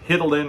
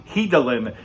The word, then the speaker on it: Hidilyn: to uh hidalyn diaz i saw the announcers in the olympics uh i think they mentioned or they pronounced your first name incorrectly uh hitlen or heidel and i can't remember what it is but of course my wife who's uh filipina corrected them for me hidalyn diaz she uh